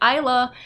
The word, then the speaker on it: Isa: it incorrectly just like Isa is fairly commonly at least where I am pronounced Isa like island or Isle that's how I'm going